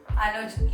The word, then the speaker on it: Anuj: But Yeah, rhyming with Anya. So Anuj looking chic, like you looking good.